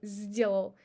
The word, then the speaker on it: сделал: The influence on s, and we pronounce it as z, сделал, сделал грабли.